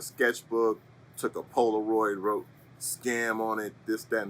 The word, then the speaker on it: Skam: And it's just generally pronounced scam.